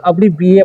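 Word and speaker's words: abbreviate: देखिए, पहले हम आधा वर्ड ई तक पढ़ेंगे, ठीक है, ई तक। तो पढ़ेंगे हम अब्री, अब्री, ठीक है, अब्री, यहाँ तक अब्री पढ़ लिए। अब यहाँ पर पढ़ेंगे V8। क्या पढ़ेंगे? V8। लेकिन V8 टॉ नहीं पढ़ना है, इसे यहाँ पर टी साइलेंट कर देना है, ठीक है।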